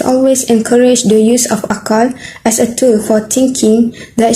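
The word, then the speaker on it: عقل: This Arabic word is pronounced as akala.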